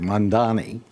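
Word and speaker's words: Mamdani: Um Zoran Mand I'm going to pronounce it correctly. Mandani uh is going to be elected mayor of New York.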